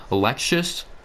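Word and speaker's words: Aleksej: I might end up taking Alexius. That's how you pronounce his name.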